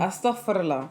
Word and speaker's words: Astaghfirullah: Astaghfirullah.